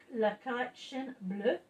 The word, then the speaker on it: La Collection Bleue: Yes, it's called La Collection Bleue, which is in French. La Collection, because you don't pronounce the N.